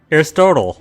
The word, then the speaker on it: Aristotle: Aristotle. Yeah. Aristotle. Aristotle. Aristotle. Aristotle. Aristotle. It's like Chipotle.